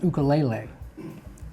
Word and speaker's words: ukulele: And it's from Hawaii, and the proper pronunciation is ukulele.